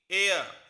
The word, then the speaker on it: heir: नीचे वाला जो वर्ड है HEIR, इसमें जो H है वो हमारा साइलेंट है, तो अब इसकी प्रोनाउंसिएशन होगी एयर यानी कि उत्तराधिकारी।